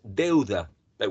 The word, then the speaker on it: debt: which in Spanish means de but when you owe money to someone you call it Deb Deb this uh um consonant sound is not pronounced you just say Deb not debt okay debt so debt